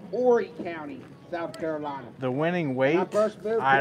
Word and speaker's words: Horry: cat brawl I live in a county called Horry County the winning ways I don't know some years ago it's posted up somewhere that's why I kept calling it Horry County and then I went to um Horry County and then I find out if you